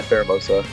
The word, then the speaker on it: Pheromosa: As he has a team that is going to be Goodra, Celesteela, Gyarados, the Formosa or I think that's how you say it. Formosa. Yeah, Pheromosa.